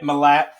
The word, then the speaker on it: Milat: Milat.